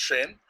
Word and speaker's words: Zhayynn: It's spelled Zhayynn, but it's pronounced Shane.